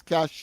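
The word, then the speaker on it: cache: Uh of course uh the word my word for today of course is cash. You know c a c h e right that cash meaning of course that uh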